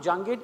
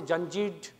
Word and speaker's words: Jangid: like when you know if I ask Siri or Alexa my name my last name jangit it will someone say janjeed new new terms they